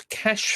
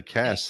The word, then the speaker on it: cache: Computer cache, but we say cache, but you'd say cash. Yeah, here we always say cash, CACHE.